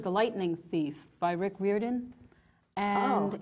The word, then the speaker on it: Riordan: I believe it's Riordan. Riordan.